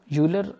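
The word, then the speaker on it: Euler: सो एल आइलर, यूलर, आइलर दोनों तरह से लोग प्रोनाउंस करते हैं। सो I think आइलर इज़ the correct pronunciation.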